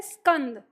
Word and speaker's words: स्कंद: अगर हम स बोलेंगे पूरा तो वो पूरा स आ जाता है, तो हम बोलते हैं स्कंद। ये हाँ उच्चारण स ही करते हैं, लेकिन आधे स का उच्चारण करते हैं। जब हम आधे स का उच्चारण करते हैं तो हमें ऐसा महसूस होता है कि जैसे हमारे मुख से पहले ई की ध्वनि बाहर आ रही है।